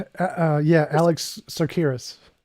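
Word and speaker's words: Tsakiris: Is it Tacaris? Uh, yeah. Alex Sakuras.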